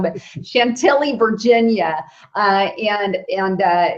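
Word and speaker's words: Chantilly: took place in Shant Shaley Chantelli like Billy, correct? I said it wrong, but Chantelli, Virginia.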